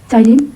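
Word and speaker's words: ptyalin: P4 silane, P is silent here.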